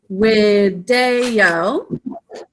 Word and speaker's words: video: So this Latin word video is spelled with a V, but depending on the type of Latin, the V is pronounced as a W. So it's video, visum.